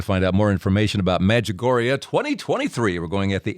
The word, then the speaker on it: Medjugorje: of The Visionaries Maria as I say medjugori is it's spell it just it's just like it sounds Med j-u-g-o-r-j-e pilgrimage.life Aaron